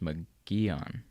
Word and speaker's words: Mogollon: Oh, Mogollon is pronounced Magellan. Okay. I didn't know the L was like the Spanish L's.